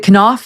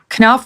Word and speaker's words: Knauf: Sydney for the Invictus Games, Jason is it Knauf? Is that how you pronounce his name? Knauf, yeah.